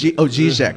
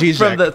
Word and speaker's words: Žižek: Is it Žižek? Is it no? Oh, it's Žižek. I'm getting from the recording room. They're telling me it's Žižek.